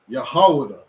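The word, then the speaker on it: יהודה: Yahawada.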